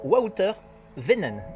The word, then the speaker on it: Wouter Wynen: Je suis avec un Belge qui s'appelle Wouter Venen. Oui. J'ai bien prononcé?